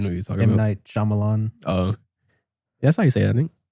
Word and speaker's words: M. Night Shyamalan: M. Night Shyamalan.